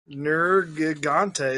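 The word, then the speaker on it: Nergigante: our channel here alright nerd ghonte that's how I pronounce that all right gnorga ghonte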